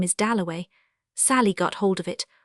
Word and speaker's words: Dalloway: Somebody had brought him over, and Clarissa got his name wrong. She introduced him to everybody as Wickham. At last he said, "My name is Doway."